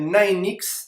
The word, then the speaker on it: Ninexx: l'entreprise et donc l'entreprise s'appelle nine x d'accord on le prononce à l'américaine est en fait si